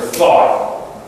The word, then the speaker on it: though: The customer thought the room apartment, though the kitchen and bathroom were quite narrow. Though. It's almost as if T-H-O. Though. Thought. T-H-O-U-G-H-T. Thought. Okay, we'll do a little bit on our scholar.